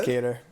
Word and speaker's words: Qatar: Is it Qatar? We should do a full episode of just him pronouncing fighters' names. Qatar's a place in the It's a country. UAE. It's a country. So it's Cater.